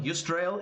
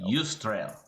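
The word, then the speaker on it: Yusdrayl: As a quick note on spelling, Yustrail is spelled Yeah. Y-U-S Y-U-S? Ustrail. D-R-A-Y-L. Ustrail. Yustrail.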